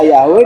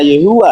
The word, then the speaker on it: YHWH: Bis itu bisa dibaca Yeha, bisa dibaca Yahwe, bisa dibaca Yehua. lah kalau Yehova enggak nyambung ke Haleluya.